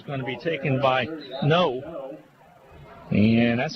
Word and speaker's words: Ngo: to be taken by no and that's how his name is pronounced it's like no and no spelled ngo but it's pronounced no and he has a